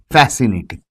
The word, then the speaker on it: fascinating: So you have fascinating, right? So when you say fascinating, the C is silent.